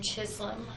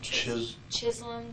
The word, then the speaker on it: Chisholm: Brandon Chisholm, I think that's his name. Chisholm, Chislm, or something like that. It might be pronounced Chisholm with a silent L, but I know that has an L in it.